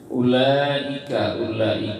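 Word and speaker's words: أولئك: Ulaika itu ada matobi'i di la-nya menghadapi hamzah, di i-nya, maka hukum bacanya adalah dibaca mad wajib muttasil, ya, mad wajib muttasil. Panjang ayat, panjang pembacaan adalah 6 harokat, ya.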